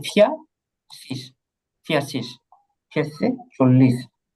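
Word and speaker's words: vierzig: এই যে ফিয়া শীষ, ফিয়া শীষ, ফিয়া শীষে 40।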